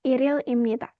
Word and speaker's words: 1일입니다: Il kan? Berarti dibacanya Iril Imnita. 1일입니다. Iril Imnita. Harus ya. 2020년 1월 1일. Itu kan il ya. Digabungkan. Si ilnya itu dikatasin kalau untuk bacanya. Jadinya Iril Imnita.